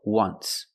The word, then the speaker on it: once: Phonetically, it makes the sound w, like a W. W, once.